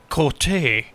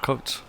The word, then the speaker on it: Coates: said like a gregory cote or gregory colts it's the irish spelling of coats the